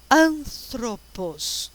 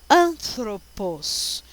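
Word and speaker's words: ἄνθρωπος: A, alfa, né? O ni, que é N, parece um V, mas não é, é a letra N de Nair. Esse é um T aspirado, ó, tá?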